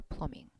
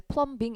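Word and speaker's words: plumbing: check her pluming 되셨죠? 플러밍은 여러분 토익의 종종 나와 되게 자주 나와요. 배관이라는 근데 읽그때 플럼빙 이렇게 읽으면 안 돼요. B는 묵음이에요.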